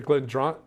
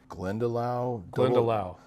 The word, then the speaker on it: Glendalough: And then they also had the Glendoro. I can't remember how you say it. Glendalough.